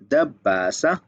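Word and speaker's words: دباسة: दब्बासा इस तरह से वो दिखता है, ये है उसकी अरबिक प्रोनाउंसिएशन दब्बासा, और ये लिखी हुई है रोमन उर्दू पिन लगाने वाला।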